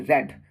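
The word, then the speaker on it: read: Having रेड नहीं रेड। यह verb का थर्ड फॉर्म है। रेड नहीं रेड है। इसका स्पेलिंग वही है लेकिन प्रोनंसिएशन अलग हो जाएगा।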